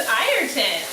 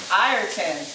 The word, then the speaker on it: Ayrton: His name is Ayrton. Ayrton. And he, tell him who he's named after. Well, he's named after Ayrton Senna, so anyone who's a Formula One fan,